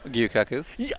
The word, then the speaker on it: Gyukaku: What's, Gyukaku. Yes. Is that how you pronounce it?